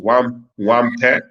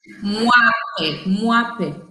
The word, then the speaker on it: Mwape: How is your name pronounced? Wampe? Wampe? Mwape.